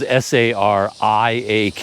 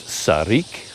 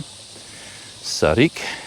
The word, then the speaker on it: Sariak: he said it's called Sarik. But the lettering is S-A-R-I-A-K, so I've been saying Sariak, but apparently it's pronounced Sarik. I hear that from a lot of people. Sarik.